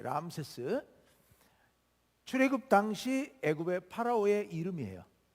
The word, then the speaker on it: 람세스: 라암셋 이게 이제 지금 그쪽 발음으로 람세스예요. 람세스.